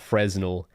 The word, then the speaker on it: Fresnel: Not Fresnel, not Fresnel, but Fresnel.